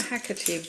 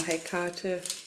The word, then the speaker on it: Hecate: Oh, and I finished my Hecate book, or Hecate, depending on how you'd like to pronounce that, Goddess of Witches, and